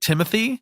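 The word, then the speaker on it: Timothée: List of people I've heard pronounce it Timothy Yeah. include Armie Hammer, Ansel Elgort, and Timothy Chalamet. Yeah, So it's I'm Timothy. fine with calling him Timothy.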